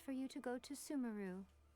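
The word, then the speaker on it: Sumeru: would be easiest for you to go to Sumaru. Sumaru. We've run into loads of scholars from there on our journey so far. It's pronounced Sumaru.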